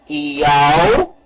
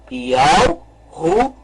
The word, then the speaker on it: Yahushua: E deve ser pronunciado, então, o nome correto. Yahushua. Vamos novamente pronunciar. Yahushua.